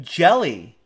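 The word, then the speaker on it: Hjelle: Pronounces surname Jelly.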